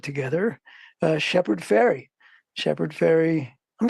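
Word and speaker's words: Fairey: right it's not it's it sounds like sounds like the goes across the yeah yeah people always want to say Farley faret I'm like no no it's just like too just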